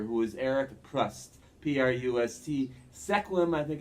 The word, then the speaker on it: Sequim: Sequim, I think it's pronounced Washington.